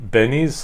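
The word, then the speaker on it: Binny's: going mispronounce this um Benny's like Vinnie with a be it's um uh you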